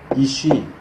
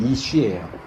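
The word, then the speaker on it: אִישׁ: 그러니까 남자 여자가 이슈 이샤 이렇게 돼요. 발음이. 그 한글로 써 주면 남자는 이슈예요.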